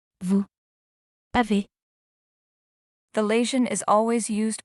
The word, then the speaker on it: vous avez: Here the letter S is pronounced as Z.